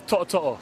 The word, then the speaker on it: To'oTo'o: It's To'oTo'o.